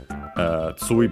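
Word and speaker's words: 終: Tsui, by the way, accented on the first syllable, and also in this case, even when we add ni, of course.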